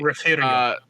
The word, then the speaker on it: Refugio: So, Refugio is actually Refugio. it is Refugio, but we added an R. It's Refugio because reasons.